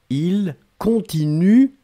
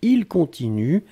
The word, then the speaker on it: continuent: et ici le pluriel, il continue, U-E-N-T. On écrit E-N-T, on ne prononce pas. D'accord? Donc il continue, C-O-N-T-I-N-U-E-N-T.